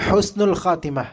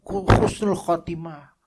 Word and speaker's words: Husnul Khatimah: Khan enggak enak didengarnya khan gitu kemudian eh Husnul Khatimah ya kan Husnul Khatimah ha Husnul Khatimah Bacanya apa orang jawa ini jangan marah orang